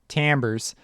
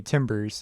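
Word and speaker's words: timbres: it resets it now if you hit normalized Tambor's its TI MBR es don't ask me why it's pronounced ambers it's some language thing from some other culture because I mean in America we'd say Timbers is what I Tim Berets it's what I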